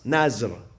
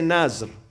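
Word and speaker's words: نذر: In the Pakistani Indian community, when you go to their centers, they say niyaz, nazr. Iranian, they say nazr. The Arabs, they say nadhr.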